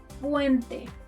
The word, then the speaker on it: puente: La letra P, letter P, as in puente, puente, bridge. To pronounce this letter like a native, put your hand in front of your mouth and try not to put air like you do in English.